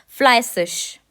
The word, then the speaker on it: fleißig: ये लिखा गया है ये होता है सिश, इस तरह प्रोनाउंस होता है, फ्लाइसिश।